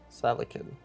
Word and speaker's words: Seleucid: Seleucid.